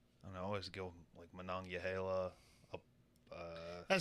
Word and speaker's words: Monongahela: I don't know, I always go Monongahela up. that sounds like it's in Hawaii. Monongahela?